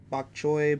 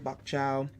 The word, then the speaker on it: bok choy: chow and fresh mushrooms bok choy bok chow keep laughing because I'm Gonna Keep mispronouncing It the water clinging clinging